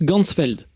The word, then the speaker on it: Ganzfeld: de la vision et en allemand champ entier ça se prononce gansfeld ainsi il va créer